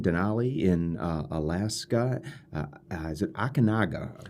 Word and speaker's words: Aconcagua: Is it Aconcagua, right? Aconcagua. Aconcagua. The hard one to pronounce.